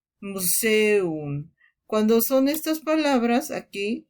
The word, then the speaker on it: Museum: Cuidado porque en muchas palabras encontrarás estas dos vocales juntas pero en sílabas distintas como Museum.